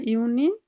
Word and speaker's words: Juni: হ্যাঁ, ইউনি, ইউলি, হ্যাঁ জিউনি বলা যাবে না, ইউনি।